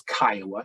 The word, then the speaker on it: CCIOA: We usually refer to this as Kiowa, CCIOA, and for those of you that I've only read it in the past, we pronounce that like the city or like the Native American tribe, Kiowa.